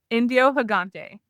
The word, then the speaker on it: Indio Gigante: We are here with a with with Whitney who's going to tell us all about this chicken that I can't pronounce. Indiohagante.